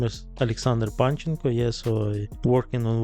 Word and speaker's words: Panchenko: Did I pronounce that right, by the way? Yeah. Panchenko? Panchenko. Panchenko, all right.